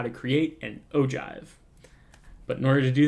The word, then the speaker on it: ogive: ideas how that's pronounced the most common answer that i see or that i hear i guess is ogive like olive but with a g instead of an l but this is actually pronounced ogive so we've got from